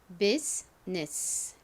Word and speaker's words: business: 그 다음에 U가 예외적으로 여기서는 E 소리로 쓰였고요. 다음 S가 옵니다. S는 이 단어에서 S 소리가 아니라 Z 소리로 쓰였어요. 그리고 I가 오는데 I는 여기서 묵음입니다. 자, 그 다음 ness는 N-E-S-S이죠. business, business.